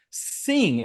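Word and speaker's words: Singh: winner is uh I'm must I'm G to butcher the name I'm Easter Kentucky guys I'm gonna make stuff up so it's Jess sing s i n g h Jess sing congratulations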